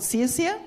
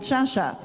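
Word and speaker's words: Sciascia: All of my life, I grew up with the Italian Māori family being called Sia. And then they realised that they were pronouncing their own Italian name wrong, and now they are called Shasha. Shasha.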